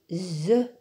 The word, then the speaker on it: œufs: Attention, pour le mot œuf et bœuf au pluriel, le F ne se prononce pas. On dit un œuf des œufs. Un bœuf des bœufs.